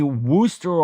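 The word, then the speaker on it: Wooster: Chad knows he's in Ohio, but it's definitely Worooster. Ohio rhymes with rooster.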